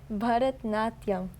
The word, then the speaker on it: Bharatanatyam: Bharatanatyam.